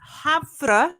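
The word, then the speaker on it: Havre: incident happened at uh havra is how you say havra airport in Montana not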